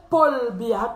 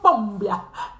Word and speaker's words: Paul Biya: de Paul Biya, ils n'ont jamais pu retenir, prononcer Paul Biya. Toujours Pom Biya.